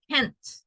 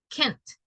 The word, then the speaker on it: can't: my brother can't sing every single time that you pronounce the negative try to emphasize the T sound at the end T Kent Kent because if not it's difficult to identify if you are saying positive or negative so yes it's like